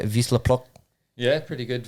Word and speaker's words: Wisła Płock: Wisla Plock? yeah, pretty good. Wisła Płock.